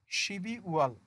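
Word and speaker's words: 십이월: তাহলে উচ্চারণটা হবে শিবি ওয়াল, শিবি ওয়াল, ডিসেম্বর মাস।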